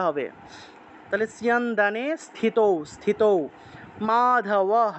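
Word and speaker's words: মাধবঃ: তাহলে সিয়ানন্দানে স্থিত স্থিত মাধবহ বিসর্গ থাকলে হ উচ্চারণ মাধব পান্ডব মাধবহ পান্ডব দিব্য শঙ্খ প্রদত্মাতুহ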